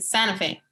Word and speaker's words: Santa Fe: Santa Fe. We don't say the T. Santa Fe. It's like Santa. It's like Sana.